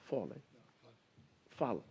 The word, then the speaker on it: Fall: A lot of time was spent yesterday by Fauzi and the president of Senegal, Fall. Yeah, they pronounce his name as Fall. I say Fall, it's F-A-L-L.